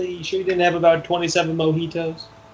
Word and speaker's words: mojito: You sure you didn't have about 27 mojitos? It's pronounced Mojito.